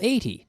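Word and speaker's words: eighty: With the numbers that are the teens, the emphasis falls on the second syllable.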